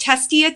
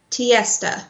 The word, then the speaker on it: Tiesta: It's so like one-stop shopping on her site, where you also get from, is it pronounced Testia tea or Testia? How do you pronounce? Tiesta. Tiesta, sorry, yeah. With a T.